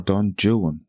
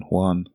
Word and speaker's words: Don Juan: course I'm talking about Don Juan or Don Jan as he would have pronounced it and not to be obtuse it's easier to rhyme words in English with jwan than Juan I want a hero